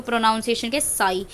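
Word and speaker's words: ψ: इसको हम डिनोट किससे करते हैं, साई से डिनोट करते हैं, ठीक है। और इसको प्रोनाउंसिएशन के साई, ये है आपका वाटर पोटेंशियल का टर्म, ठीक है।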